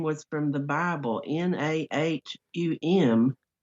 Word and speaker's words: Nahum: was from the bible n-a-h-u-m but instead of pronouncing it nahum they pronounced that nim as if it were nim oh and this young